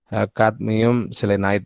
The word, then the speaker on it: cadmium selenide: Bacanya adalah cadmium selenide ya. Kalau bahasa Indonesia jadikan kadmium selenida ya.